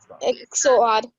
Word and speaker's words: XOR: Abhishek, how you pronounce that one? Dir or XOR. Z-E-R? O-R. Yes, XOR.